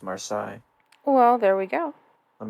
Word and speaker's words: Marseille: will think i'm stupid i'm sure that's pronounced marsai well there we go